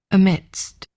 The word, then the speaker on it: amidst: Amidst amidst Let's listen to how they say it amidst. Yeah, I suppose the the dst is a bit tricky.